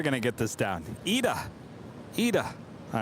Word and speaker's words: ITA: Ita, not Itza. Jet 503. I'm never going to get this down. Ida.